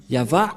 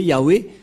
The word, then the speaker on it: Yahvah: yava et on va voir comment on prononce cette parole yava ilama yavmo et nous allons voir son sens par ici puisqu'il s'agit d'une fausse transitération par les catholiques romains qui ont utilisé Yahwé un terme qui n'existe pas c'est pourquoi ils l'ont